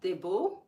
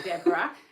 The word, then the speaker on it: Debra: I'm not Debo. If you want me to respond to you, I'm not called Debo. I'm Debra. You can spell it as DBRA.